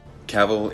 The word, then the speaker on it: Cavill: Cavill is pronounced like travel. Travel. Caval.